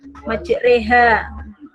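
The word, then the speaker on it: مجريها: sama seperti tadi Yahudi malah tulisannya majroha tapi dibaca majreha terus juga ismam kalau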